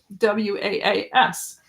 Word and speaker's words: Walls: in Shhatland they pronounce it was.